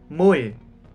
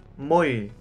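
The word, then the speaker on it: 물: lagi atau ada spasi contoh misalnya Mul Mul jadi l ya M atau tha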